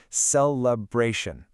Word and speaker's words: celebration: Phonetically, it's a simple four syllable structure. Celebration. Notice how the primary linguistic stress lands heavily on that third syllable. Bra. Say it with me.